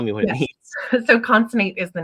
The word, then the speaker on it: Consonate: beautiful so if you would please I mean pronounce the word and tell me what it means so conate is the name of my business it took